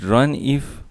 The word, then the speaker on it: runif: But in actual, this run if loop is pronounced as runif.